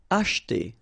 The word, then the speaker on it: acheter: Acheter. Same thing here, we don't insist on this so acheter, acheter.